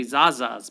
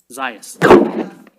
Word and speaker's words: Zayas: right miss diaz zayas i want to say zaza's but it's how do you say it zayas i was just thinking